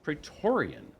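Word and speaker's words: Praetorian: Hammond uh both of these gentlemen are from pretorian did I pronounce that correctly that is correct yep now tell us about petorian what is petorian yeah so we're an offensive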